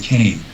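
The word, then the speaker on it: Kaan: in the family called it's spelled k aan Kane but uh but they pronounce it Kane what about Bud Hopkins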